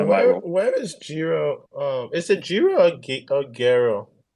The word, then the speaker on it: GERO: I say Gero wallet, but it's any way that you want to pronounce it. So it's named after Gerolamo Cardano, and That's what I thought.